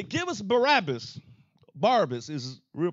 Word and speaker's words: Barabbas: Barabbas is his real pronunciation.